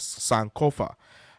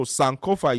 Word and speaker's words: Sankofa: It's It's known as Sankofa. I mentioned this earlier when I was giving a rundown of different parts of Africa, especially West Africa. So, Sankofa is spelled s a n k o f a s a n k o f a.